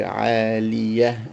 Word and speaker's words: عالية: If we stop, we will not pronounce the the tanween of the two kasras. So we say عالية, and we will not pronounce the ta. We reduce it to just a ha.